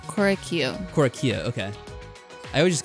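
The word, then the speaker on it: Korekiyo: Korakio.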